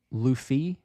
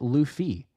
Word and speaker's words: Luffy: Okay, so say the Lou part. Okay, like Lululemon. Okay, so Lou and then the F is feet with the T. Luffy?